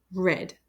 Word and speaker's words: read: this word which is red so I'll put a little color swatch over there because this red is pronounced as red r-e-d but they're spelled differently so red is the